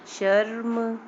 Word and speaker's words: शर्म: पूरा र तो उच्चारण हो नहीं रहा, देखिए शर्म, गर्व, है ना। गर्व तो हम लोग पढ़ नहीं रहे हैं, जब ये र पूरा होता तो हम लोग को पढ़ना होता गर्व, लेकिन ऐसे बोल रहे हैं ना, ये आधा र है, गर्व, बाद वाले अक्षर